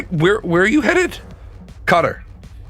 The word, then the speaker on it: Qatar: Cutter. Do you Do you mean Qatar? No. Everybody calls it Cutter.